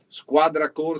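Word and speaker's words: Squadra Corse: those that do not know the proper italian pronunciation this is exactly squadra core 712 is a tribute is a car that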